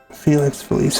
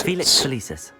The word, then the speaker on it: Felix Felicis: Felix Felis. Felix Felicis. Well done. I even pronounced it right.